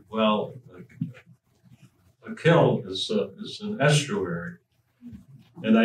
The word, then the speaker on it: kil: I and I figured they were probably thrown off because it had two vowels on which means nothing it's a closed syllable and I would be a short vowel anyway with a double I